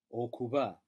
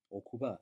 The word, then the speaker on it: okuba: To be, okuba, and this is a soft B, okuba.